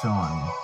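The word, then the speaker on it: Seam: anything better to do the name scene pronounced Sean Sean this is my little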